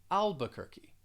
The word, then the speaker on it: Albuquerque: that q you you'll just pronounce it with a k albuquerque after that we have